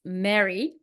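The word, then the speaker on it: Mirri: is about well it is the story of Mary or I heard in an interview that it was pronounced Mary but it's written m i r r i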